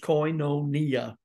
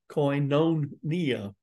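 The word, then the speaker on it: κοινωνία: Fellowship comes from a Greek word that is pronounced coinonia it's not Co Greek that's the common Greek in which the New Testament was written originally but it's the Greek word from which we get fellowship coinonia and it means basically sharing working together one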